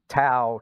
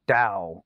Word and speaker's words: Dao: things but it's like no tao tao is just a mispronunciation or or a very old early translation from a long time ago but dao is actually the the modern way of of trying to get closer to the chinese way of pronouncing it and we don't have